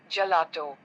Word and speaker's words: gelato: before a or I sounds like J in Jam for example gelato R is often rolled